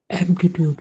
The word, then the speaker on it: aptitude: How many syllables in aptitude again? Ma'am, 3. 3 syllables. 3 syllables, correct. And a carries it, right?